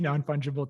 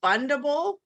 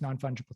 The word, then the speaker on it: fungible: you say it nft non-fungible token non-fungible token like fundable it's it's not fundable it's this funky other word fun fungible how do you spell